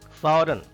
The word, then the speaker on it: foreign: Foreign, G is silent here.